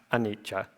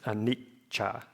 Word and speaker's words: anicca: Like anicca, that long syllable in the middle is because of the double C, not anicca. It's anicca.